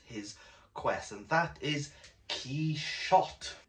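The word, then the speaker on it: Quichotte: quest and that is key shot it's worth noting that within the preface rushdie tells us that the pronunciation key shot comes from the french pronunciation of that is what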